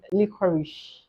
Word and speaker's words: licorice: has LM Licorice and M licorice can equally be pronounced as licorish yes I went to